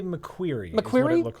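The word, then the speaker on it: McQuarrie: How do you pronounce his name? I would say McQueer.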